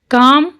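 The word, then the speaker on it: calm: काम, अब इसमें ए के बाद क्या आ रहा है? एल, तो एल इसमें साइलेंट आएगा।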